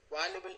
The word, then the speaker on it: valuable: undergraduate sociology major provides valuable insight into let's try this one here it's not a b but a v valuable valuable insights put these put these